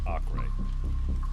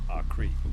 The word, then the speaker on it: Acre: It could be pronounced one of two ways. Apparently, in standard Portuguese, European Portuguese, it would be pronounced Acre. And in Brazilian Portuguese, it would be pronounced Acre.